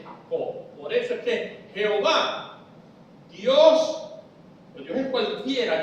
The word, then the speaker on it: Jehová: En español se quita la H final, se le pone un acento a la A, y en Yahvé se le quita la H final y se pone un acento en la E.